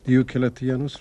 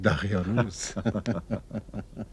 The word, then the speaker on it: دیوکلتیانوس: هنوز نمیتواند درست تلفظ کند. دیوکلتیانوس را میگوید دقیانوس.